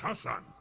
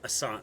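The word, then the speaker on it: Ghassan: Hassan. G-H-A-S-S-A-N is Hassan? The G-H is silent, is it?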